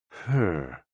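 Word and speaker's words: 呵: HE, pronounced like her, with a yawn, which is associated with the heart.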